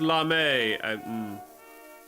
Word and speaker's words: Lame: It's pronounced Lame.